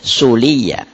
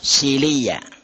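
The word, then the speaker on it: صليا: Jika diulangi lagi, sebagian orang membacanya sebagai suliya, sebagian lainnya sebagai silia .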